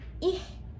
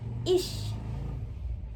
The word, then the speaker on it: ich: Kayak contoh ini dibacanya bukan ih, tapi dibacanya ish, tetap ya ish.